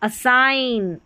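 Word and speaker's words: assign: यहाँ असाइन, IGN आइन। रिज़ाइन, देखिए आइन आ रहा है उच्चारण IGN का।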